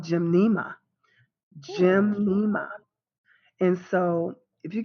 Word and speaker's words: Gymnema: you get a tincture so gymnema G Y M in II M a Jim gymnema you can get the